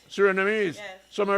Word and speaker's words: Surinamese: Surinamese.